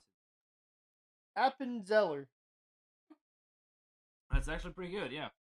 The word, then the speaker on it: Appenzeller: Well, try to pronounce it. Appenzeller.